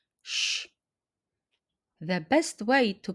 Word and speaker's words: ś: Explanation how to pronounce the Polish sound sh. The best way to pronounce the shh sound in Polish is to say it as the English sh.